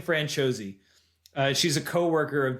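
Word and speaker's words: Franciosi: But I Googled it and it's pronounced Ashling Francos. So Ashling Franchos.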